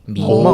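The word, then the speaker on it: 迷梦: 미멍. 오, 발음이 발음 그대로 좋으세요?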